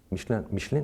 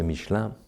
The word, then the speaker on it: Michelin: Michelin, we say in English? Michelin, the tires. Yeah, in French, say Michelin. I know it's not easy to pronounce.